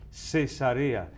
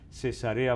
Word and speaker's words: Cesarea: Una simple aclaración, entonces, que las otras se pronuncian en castellano cesarea, cesarea marítima, cesarea de Filipos, etc.